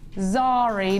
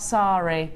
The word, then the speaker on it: Zari: Zari, not Sari. Zari. It's spelled with a Z.